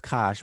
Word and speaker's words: Kush: But this whole region, here's Kush, anciently known as Kash, but we pronounce it as Kush today.